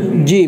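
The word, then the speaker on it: جيم: আচ্ছা আসেন, জিমটা হচ্ছে একটু শক্ত, জিমটা কি শক্ত, সেক্ষেত্রে জিহ্বার মধ্যখান উপরের তালুর সাথে লাগবে।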